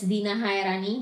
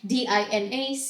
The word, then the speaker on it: Dina Chaerani: It's Dina Chaerani, the C is silent, DinaChaerani, Dina Chaerani.